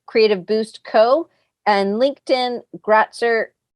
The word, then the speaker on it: Gratzer: Instagram design.domination, Facebook Creative Boost Co, and LinkedIn Gratzer. I feel like I'm saying your last name wrong. It's correct what you said. Gratzer Graphics.